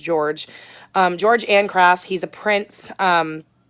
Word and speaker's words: Jorg: This tells a story of, it looks like Jorg, but I heard it's pronounced George.